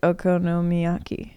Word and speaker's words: okonomiyaki: yeah um best thing in tokyo it was okonomiyaki that's that's how you say it that's correct